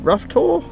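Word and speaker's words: Rough Tor: on doing the brown Willy trowel and rough rough tour that's how you say it there's like two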